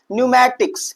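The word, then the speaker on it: pneumatics: जब भी पी एन से पहले आए तो वहां पर पी क्या होता है भैया? साइलेंट होता है। क्या होता है? साइलेंट होता है। तो हम इसे क्या पढ़ेंगे? न्यूमैटिक्स। क्या पढ़ेंगे भैया? न्यूममेटिक्स।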